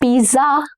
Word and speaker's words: pizza: Pizza. Double Z in Italian is pronounced as T sound. Okay, it has a little T sound, not Z. Pizza.